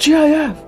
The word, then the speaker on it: GIF: It's pronounced GF.